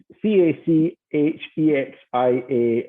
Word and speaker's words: cachexia: But it's c a c h e x i a is how you spell it.